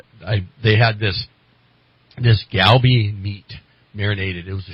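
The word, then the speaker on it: galbi: had this this galby meat marinated it was a short rib and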